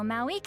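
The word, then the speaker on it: Mavuika: So Mauika has asked you to forge an ancient name for an outlander.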